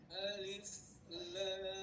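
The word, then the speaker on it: الم: Coba dibaca lengkap ya, la-nya 6 ketukan, m-nya ada gunnahnya, takarannya 2 ketukan, dan mi-nya 6 ketukan juga. Silakan. Bismillahirrahmanirrahim. Ya. Alif Lam Mim.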